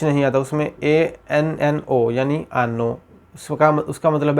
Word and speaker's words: hanno: तो ये यहाँ पे जो यूज़ हुआ है वो है आनो यानी रखना, पास रखना। इसमें H यूज़ हुआ है, जैसे कि H इसमें साइलेंट है।